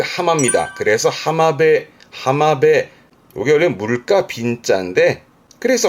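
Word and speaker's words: 浜辺: 그래서 하마베 하마베 요게 물가 빈자인데 그래서 하마베 물가 즉 해변을 말하는 앞에 있던 우미배와 비슷한 의미로 씁니다.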